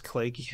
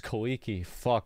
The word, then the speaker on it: Kaleiki: who doesn't know me my name is clakey i'm a game designer i worked at blizzard's boys uh 2000 i've been saying his name wrong for five years i thought it was kaliki man